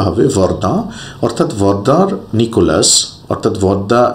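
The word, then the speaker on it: Verdun: এটা একটা জায়গা কিন্তু অনেক সময় ভুলবশত বাংলা উচ্চারণ করতে গিয়ে অনেকে এটাকে ভর্দুন উচ্চারণ করেন সেটা কিন্তু সঠিক নয় উচ্চারণটা হবে বর্দা অর্থাৎ বর্দার নিকোলাস অর্থাৎ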